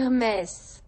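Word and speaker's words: Hermès: If you read it in French, it's Hermes. But I'm not French, and I can't pronounce my throat, so I'll go back to Hermes.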